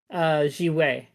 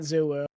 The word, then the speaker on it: Xuwu: I think they pronounce it like Jiwei or something like that in the game in the cutscene. They maybe. It looks I know. like I know it's spelled Yeah. XUWU, right? Like Yes, but yeah, I believe it's pronounced differently. I have to go rewatch the cutscene. it's Chinese, yeah, I think. So yeah, I'm probably getting the pronunciations wrong. Yeah, if it's Yeah. Chinese, it's not Zuwu.